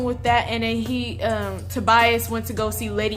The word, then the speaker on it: Tobias: of find out that the villains name is not Toby ass oops I'm sorry for mispronouncing your name man it's Tobias I'm just like oh